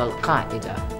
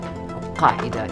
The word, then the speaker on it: Al-Qaeda: And you can see that you have the authentic pronunciation for Al-Qaeda, because of course my family speak Arabic. Al-Qaeda, it's not easy to say even in Arabic.